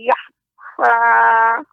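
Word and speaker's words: يخفى: Innahu ya'lamul jahra wa ma yakhfa. Wa ma yakhfa. Kha dibaca dengan tebal Nek.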